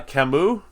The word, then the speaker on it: Camus: now we know that uh kamu because that's actually how you say his name camus and hardin these are